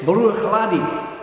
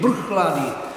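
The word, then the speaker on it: Bruichladdich: Some would say Bruichladdy, others would say Bruichladdy, and I'll tell you,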